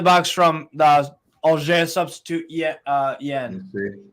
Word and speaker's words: Hein: It was a shot from inside the box from the Auxerre substitute Yen. Because the H is silent in front.